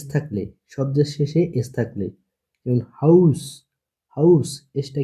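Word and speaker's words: Haus: শব্দের শেষে এস থাকলে শব্দের শেষে এস থাকলে হাউস হাউস এসটা কি সবার শেষে আছে এজন্য সয় মত উচ্চারণ হয়।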